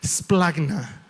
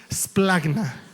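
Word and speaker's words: σπλάγχνα: Es una palabra que se pronuncia splagna. A ver, di conmigo, splagna, con una G ahí, splagna, splagna.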